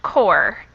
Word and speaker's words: Corps: This word here is actually pronounced core. The P and the S are totally silent.